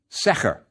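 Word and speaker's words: sḫr: a Papyrus role determinative it's pronounced sear and means plan or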